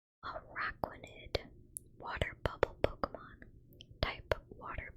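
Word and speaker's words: Araquanid: I've been pronouncing this one wrong. Araquinid water bubble Pokemon type water bug.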